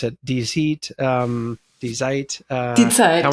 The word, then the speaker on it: Die Zeit: Monde Diplomatique, and in Germany, I'm going to mispronounce it, Die Zeit. Die Zeit. Die Zeit. Tell me what's the right. Die Zeit.